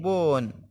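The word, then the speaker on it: bone: मतलब हड्डी होता है बी ओ एन बोन बोन मतलब हड्डी होता है तो इसमें साइलेंट है देखें होप होप मतलब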